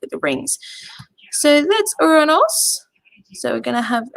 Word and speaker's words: Uranus: Now, this one, you will need a telescope to be able to see this one, because the planet Uranus, or Uranos, as the Greeks pronounced it, is going to be nice and close between Mars and the waxing moon.